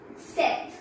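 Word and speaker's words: sept: a cube Sam sees set step B is not pronounced set wheat not these again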